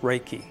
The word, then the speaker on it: reiki: force and it's pronounced reiki reiki is made up of two words rey and ki the most common definition